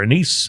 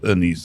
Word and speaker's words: anise: Anice or licorice or anise do you say you pronounce it Anice or an anise or or licorice on the Finish um the I've also heard it Anis but I think it's anise I don't know yeah